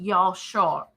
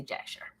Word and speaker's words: Jasher: Now, the way I actually just pronounced that wrong is pronounced Yashar. I can't say it. That's why I say Jasher.